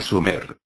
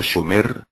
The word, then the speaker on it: Sumer: y a su tierra sumer excepto por la mala pronunciación del nombre debería de haber sido schumer y no sumer oper tenía razón sumer